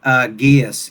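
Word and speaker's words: geas: she pronounced it Gaius in the narration.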